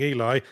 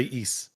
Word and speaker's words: Ys: a big why okay I always say e I believe e is the pronunciation but it's just a